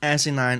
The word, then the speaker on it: asinine: Asinine is the pronunciation if you follow this.